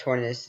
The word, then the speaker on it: Tornadus: Is it Tornadus Therian or is it Tornadus Therian? No, it's Tornadus Therian. It's actually Tornadus, but, you know, different pronunciations.